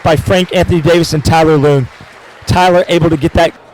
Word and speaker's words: Tyler Loong: effort put forth by Frank Anthony Davis and Tyler Loong. Tyler able to get that. We are ready and live right here for an interview with Tyler Loong. Am I saying that right, Tyler Loong?